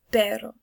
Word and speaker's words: pero: But this word perro means but, and they're pronounced differently. This one you roll your R, perro, and this is perro.